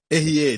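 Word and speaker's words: אהיה: Erier, diga Erier. Eu sou. É pronunciado assim, escrito dessa forma.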